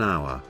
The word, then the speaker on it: hour: It will be noticed that the words such as an hour, an honest, an air begin with a vowel sound, as the initial consonant H is not pronounced.